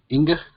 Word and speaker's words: Inga: Is it Inga? That's it. You got it. All right. Any questions for Becky while we're here? Hi, Becky. This is Inga.